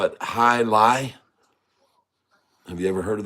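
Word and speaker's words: jai alai: it's named after you perhaps they call it high Li have you ever heard of that I was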